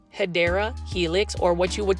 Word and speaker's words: Hedera helix: This is a Hydra Helix. I haven't said that in a while. Say it with me, plant foldies. 1, 2, 3. Hydra Helix. Or the correct way to say it is Hedera Helix, or what you would call the English ivy.